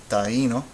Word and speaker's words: Taíno: Taíno. Taíno. You should hear 3 also because taíno.